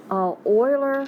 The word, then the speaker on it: Euler: pretty prism we'll just use this cube alright oiler is the name of a mathematician we want to pronounce it Euler and I do here a